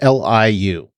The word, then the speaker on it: Liu: So directed by a name that I definitely recognize, Dan Liu, I think is how you say it, or Liu. It's Liu.